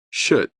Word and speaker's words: should: In this word, we have two silent letters. First K and W. Listen. T. Rhythm. H. The first H. Should.